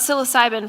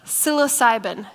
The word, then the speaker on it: psilocybin: you were talking about psilocybin first um that's a hallucinogenic medication as you're talking about our drug can you say it name again psilocybin it starts with a P it doesn't sound like